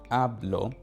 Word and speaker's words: hablo: You can almost think where you put the emphasis on the word. So hablo, hablo, the first syllable has the emphasis hablo, right?